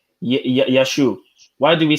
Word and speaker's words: Yeshua: please hear me bro when you look at the hebrew way of saying jesus it's actually yeshua yeshu so when we say jesus